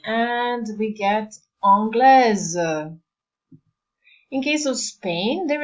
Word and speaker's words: anglais: It's more or less anytime you have a combination A-I, it will be read as A. So, how do we make a feminine form? We add an E and we get anglaise.